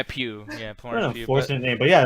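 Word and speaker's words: Pugh: i'm like a plug apparently it's florence puke yeah yeah pew yeah but yeah like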